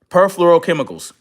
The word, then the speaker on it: perfluorochemicals: You tell me how to pronounce PERFLUOROCEMICALS. Chemicals. Okay, see how I said that better? It took me, I had to say it out loud a couple times, but that's neither here nor there. Perfluorochemicals.